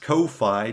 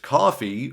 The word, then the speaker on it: Ko-fi: Though if you'd like to support without the long-term commitment, I've also put together a coffee, which it turns out isn't pronounced Ko-Fi, just coffee, for one-time donations.